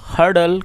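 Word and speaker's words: hurdle: दोस्तों आप इस वर्ड को नोट कर सकते हैं, एच यू आर डी एल, इसमें जो आर है वो साइलेंट है, इसका मतलब इसको प्रोनाउंस नहीं करेंगे, सिर्फ इसे हर्डल पढ़ेंगे।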